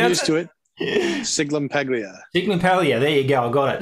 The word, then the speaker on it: Sciglimpaglia: How do you pronounce it? I'm used to it. Sciglimpaglia. Sciglimpaglia.